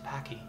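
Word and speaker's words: Topaque: It's pronounced Topake.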